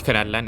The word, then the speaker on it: Natlan: Now Natlan is something, you gotta say it like that by the way.